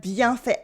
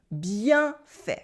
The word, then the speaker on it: bien fait: Bien fait. Repeat after me. Bien fait. Bien fait. Bien fait. Here you have two words. We have bien with the nasal sound un, bien, bien, bien, bien,